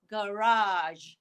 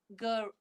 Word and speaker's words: garage: last word right okay i like to say as garage garage garage there's two pronunciation garage garage okay so the ending is again listen to me beige collage and garage repeat beige collage